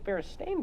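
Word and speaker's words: Berenstain: she was like honey it's be and stain Bears there's an a there that's how that's pronounced I was like oh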